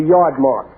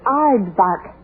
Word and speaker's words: aardvark: like what is a yard Mark what's ignorance to look who's talking you can't even pronounce it it's Aardvark yeah 10 seconds Mr